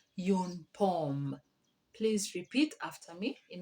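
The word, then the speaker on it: une pomme: an apple an apple in french is called yoon pom please repeat after me in order to get the correct pronunciation yoon poem secondly we have a pear a pear is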